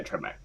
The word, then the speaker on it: Trevmak: Today we are here with now T1 NA Pro Trevmak. Wait, is it Trevmak or Trevmark? Yeah, Trevmak. Trevmak, yeah.